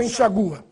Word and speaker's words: enxágua: Enxágua ou enxagua. A forma oficial é enxágua. Portanto, com acento agudo no A. Já no caso seguinte, prestem atenção.